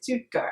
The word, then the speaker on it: Stuttgart: at Hunter College great experience where exactly wait stutgart how do you say that stutgart stutgart St